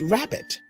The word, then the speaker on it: rabbit: that after me rabbit there are two syllables in the word rabbit but one sounds louder than the other did you notice that the first syllable R in rabbit sounds louder than the second syllable now let's use